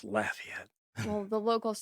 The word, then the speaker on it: Lafayette: I'm from Louisiana and where we pronounce it Lafayette. Mhm. So every time someone says Lafayette, I'm going like, it's Lafayette.